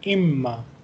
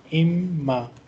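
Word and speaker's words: إمّا: So here on normal occasion we pronounce in, but here we will not pronounce noon because of this shadda. Because of this shadda, this noon spoon will be ignored. It will become imma, imma.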